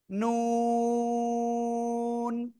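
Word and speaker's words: نون: জিহ্বার আগা উপরে, তার বরাবর উপরে তালুর সাথে লাগাবো, লাগিয়ে চার আলিফটা নিয়ে উচ্চারণ করবো। কয় আলিফ? চার আলিফ। নুন, ঠিক আছে, নুন। সবাই জোরে জোরে বলেন, জোরে জোরে। নুন নুন নুন।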